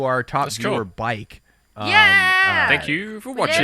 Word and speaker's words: BAJK: I actually asked the person when I live streamed. It's actually bike. So Bike. for some reason, it's Great. kind of like the Swedish way of Shout out to our top That's viewer, cool.